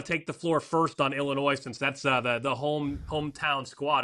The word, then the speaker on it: Illinois: In Illinois, the S is silent, but so is the D.